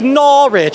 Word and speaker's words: Norwich: I think I'm pronouncing that right. I'm so America you got it right cuz every time I say they're like it's Norwich. I'm like I think that's what I'm saying.